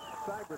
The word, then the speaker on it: Seibert: We argued this one out last week, Jack, but it is Seibert. I found out for sure. I got a call. So I told him I was going to pronounce it right all game long.